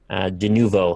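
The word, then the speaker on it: Denuvo: De novo, that's how you say it.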